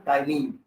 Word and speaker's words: ptyalin: P silent करेंगे तो टाइलिन।